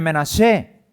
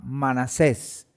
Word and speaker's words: Menashe: La tribu del pueblo de Israel, de las 12 tribus de Israel, es la tribu de Menashe, que en castellano se pronuncia o se le llama Manasés, en hebreo Menashe.